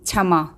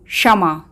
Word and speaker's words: क्षमा: म जमा आ स्वर कुछ लोग इसका उच्चारण करते हैं क्षमा जबकि इसका शुद्ध उच्चारण है शमा शमा क्योंकि बच्चों जब श शब्द के पहले आता है तो हलंत क का उच्चारण सुनाई नहीं देता वह इसलिए क्योंकि बच्चों